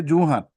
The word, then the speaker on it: Jorhat: This is not Jorhat, Mr. Goswami. Or we should say Juhat. Not Jorhat, it's Nice. Juhat. Yes, my Yes. Mr. Borua is also endorsing. How do you pronounce Jorhat? Jorhat. You don't say Jorhat. Anyone from Jorhat will say Juhat. There is no raw.